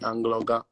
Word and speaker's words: Anloga: You have to, yeah, you have to put like a G in between the N and the L. Angloga. You know, so that's how you get it, like Angloga. Angloga. Oh, okay. Like Angloga, but the G is silent though. Somehow it's really silent.